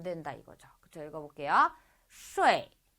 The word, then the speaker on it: 睡: 睡, 睡. 쇼에 이 이렇게 읽는 게 아니고 빨리 읽으면 거의 들리지가 않을 뿐이죠.